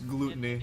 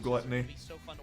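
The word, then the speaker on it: Glutonny: he says his name he's french so it's gluteny instead of gluttony obviously each set tells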